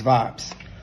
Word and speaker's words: Vibez: gotta let yall know how it's spelled is v i b e z cuz you know everybody like to put that Y in it but nah it's Vibes uh yeah but um